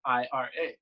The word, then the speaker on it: Ira: My name is Ira, spelled Ira. Nice. So in Brazilian Portuguese, it's pronounced Ira, which actually translates to wrath.